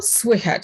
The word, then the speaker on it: słychać: Okay, so the ch on the end is like a soft ch, right?